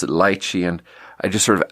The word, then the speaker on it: lychee: lived in China and having my pronunciation based on Chinese, I pronounced it lychee. And then there was this super fancy other server there, and he pronounced it lychee, and I just sort of out-pretentious him for a sec.